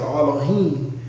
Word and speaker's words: Elohim: plural, Alahayim, not Allah, or it's Elohim. That's really how you say it, Elohim.